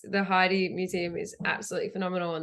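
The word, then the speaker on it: Heide: things about the the how do you say hide Museum art Heidi Heidi yeah yeah it's amazing oh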